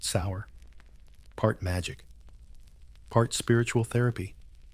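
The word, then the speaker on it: seiðr: Sometimes it was about magic, specifically a mysterious method called ceda, pronounced sour.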